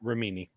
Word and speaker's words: Remini: And Leah Remini, she's I believe that's how I'm pronouncing her last name. Remini, yeah.